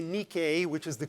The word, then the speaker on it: Nike: the source of the shoes that are often mispronounced nike one wants to say nikkei which is the correct pronunciation so a new